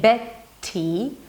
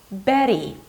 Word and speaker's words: Betty: So instead of saying Betty, I say Betty, or hotter.